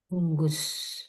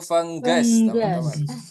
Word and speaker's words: fungus: Alright, selanjutnya kita juga punya funggus. Ah, ada fengges. Oh, fengges. Nah, dibacanya itu fenggas, Teman-teman.